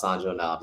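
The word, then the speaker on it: sanjonabes: it out but pronounce sanjo knobs it's basically Jason Evans scrambler okay good got you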